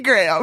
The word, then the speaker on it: Graham: No, it's a candy graham. Well, I thought you meant Graham, not you. Graham is one syllable. Graham.